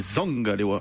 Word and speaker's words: Zangalewa: Mais pourquoi on prononcerait bien l'anglais et pas le camerounais n'existe pas d'ailleurs, c'est un dialecte, c'est du bassa, et c'est Zangalewa.